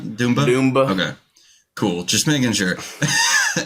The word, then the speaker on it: Dumba: How do you pronounce Dumba? Dumba.